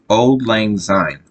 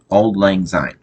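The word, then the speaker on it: Auld Lang Syne: about that saw okay so it old lang sign old old it's spelled a u l d l a n g s y n e old lang sign okay okay so it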